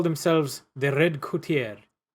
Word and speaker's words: Coterie: They call themselves the Red Coterie. It's very hard to pronounce. Also, I should have pronounced it like Red Coterie, because it's in bold.